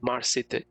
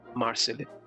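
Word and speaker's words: Marseille: Paris তারপর সেখান থেকে মার্সেলে আসল ইংলিশে বলতে গেলে কথাটা হচ্ছে মার্সেলে কিন্তু ফ্রেঞ্চ ভাষায় বলে মারসে। কারণ ফ্রেঞ্চ ভাষায় লাস্ট কনসোনান্টটা ইউজ হয় না উচ্চারণের সময়। ওইজন্য ওটাকে বলে মারসে। নট মারসেলে।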